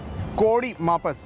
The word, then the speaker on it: Kodi Mapas: This is Kodi Mapas, right pronunciation.